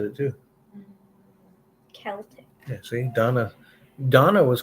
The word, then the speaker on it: Celtic: to pronounce the name is Celtic pronounced Celtic or Celtic alphabet directly from Latin so it doesn't have a k so while Modern English rules say Celtic should be pronounced with a soft C many English speakers prefer to pronounce words and names from other languages the way that they would have us pronounce them which in this case is a hor she's